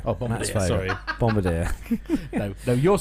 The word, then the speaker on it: Bombardier: a bit between Airbus and Boeing really it's Bombardier as well now yeah Bombardier up on that story Bombardier no you're saying it right it's just me